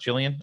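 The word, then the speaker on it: Ghislaine: was on suicide knotch it's pronounced Jillian okay thank you it's an Irish name Czech father yeah to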